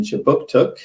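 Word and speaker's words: Kjipuktuk: Services conducts business in Chibuktuk, which is how you say Halifax in the Mi'kmaq language.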